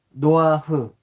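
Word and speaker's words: נֹחַ: 자, 노아의 이름은 노아흐, 히브리어로는 이제 노아흐 발음이 되는 것이고, 한숨 돌리다, 노아의 이름 자체가 한숨 돌리다, 휴식하다는 뜻의 누아흐에서 파생된 말, 그래서 안식, 휴식, 위로라는 뜻이라고 합니다.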